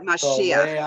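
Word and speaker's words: מָשִׁיחַ: So remember, it'll be ach at the end and the accent will come on the syllable before the end. All right, so number one, go for it. Mashiach. Good, Mashiach, good.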